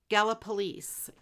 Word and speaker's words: Gallipolis: Gallipolice. You know, yes, that's how they say it on the radio. I always think of galloping police. You know, policemen.